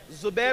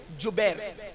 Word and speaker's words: جبیر: اس درے پر 50 صحابہ کو عبداللہ ابن جبیر، زبیر نہیں بلکہ جبیر، جیم سے جبیر.